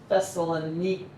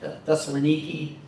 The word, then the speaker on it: Thessaloniki: Today in modern Greek, they have upper and lower case, and Thessaloniki. Some debate about pronunciation of that last E. Does it sound like A or does it sound like E? Probably sounds like E.